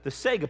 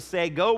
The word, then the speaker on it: Sago: Well, first of all, I'm mispronouncing it because it's not a Sega plant. Even though I grew up in Florida with Segas all over, it's not a Sega plant. It is a Sago plant, okay?